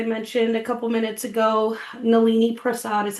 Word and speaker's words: Nalini Prasad: Nolini Prasad is how you pronounce my name.